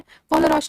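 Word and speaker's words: Kohlrausch: हम यूज करते हैं कोलरॉश लॉ।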